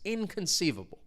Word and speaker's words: inconceivable: So this means again it's impossible to imagine or believe and you could say that something is inconceivable. Now the stress is on that third syllable. Inconceivable.